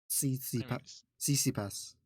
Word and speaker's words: Tsitsipas: It's not a silent T. Tsitsipas.